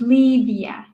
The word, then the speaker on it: Livia: For our listeners, that's pronounced Selona, Gura, and Livia is pronounced Livia.